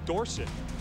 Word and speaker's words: Dorsett: It was actually pronounced Dorsett. Kind of like Theismann was Theismann.